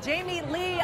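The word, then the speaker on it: Jamie-Lee: Dairy girls we've got Jamie Lee yes I said it right not Jamie Lynn right because everybody wants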